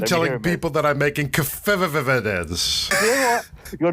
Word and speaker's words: Keftedes: So I've been telling people that I'm making Keftedes. You know what? You're not too far away. It's Keftedes. Keftedes? Yeah, but like the D is more like a TH sound. Keftedes.